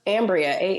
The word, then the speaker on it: Amberia: Look, if you want more of this, you can follow me on all the social medias at _Ambria, Amberia. Yes, there's an E in there for decoration because my mother is Black.